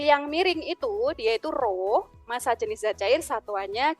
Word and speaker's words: rho: Maka persamaannya adalah P sama dengan P kecil, ini bacanya rho, simbol dari massa jenis, rho dikali G dikali dengan H.